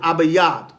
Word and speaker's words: Abib: the new year abib abba yab all right a b i could spell it a b a y a b abba yab in an ancient paleo hebrew tongue abib abba yab a